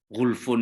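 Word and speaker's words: غلف: Qaulu ta'ala wa qalu, yakni al-yahud, qulubuna ghulfun, bisukunil lam jam'u aghlaf, ay 'alaiha aghtiyah. Ghulfun ini bacanya ghulfun, jam'u aghlaf, ay 'alaiha aghtiyah.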